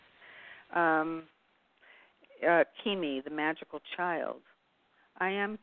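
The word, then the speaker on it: Cimi: you the card well the card was is Kimi and it's spelled c Mi but it's pronounced ke M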